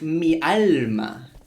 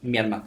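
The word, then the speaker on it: miarma: But then I learned it's mi alma. And I'm like, oh, my soul, it means. For some reason, we call each other my soul. But with the pronunciation, it's mi arma. One word. M-I-A-R-M-A. Mi arma.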